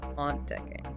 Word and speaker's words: ontdekking: Which word has 3 syllables? Potlud, meaning pencil, or ontdekking, meaning discovery? The word with 3 syllables is ontdekking.